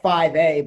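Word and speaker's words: Fivay: or whatever but yeah it's called it's called 5a but it's spelled f-i-v-a-y it was kind of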